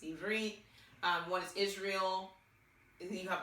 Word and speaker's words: Ivrit: Okay, so obviously pronunciation, it's Ivrit.